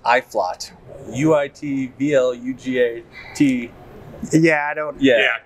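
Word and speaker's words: Uitvlugt: it's got a really funny name uh it's pronounced iflot u-i-t-v-l-u-g-a-t yeah i don't yeah that looks like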